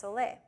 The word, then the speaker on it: sole: had i s o l e but it's pronounced soay um and it is basically a combination of